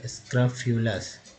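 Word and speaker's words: scrofulous: तो ये देखिए पहले स्क्रफ्यूलस, यू का उच्चारण जो है EU के रूप में हुआ है, चलिए फ्यू हो गया, स्क्रफ्यूलस।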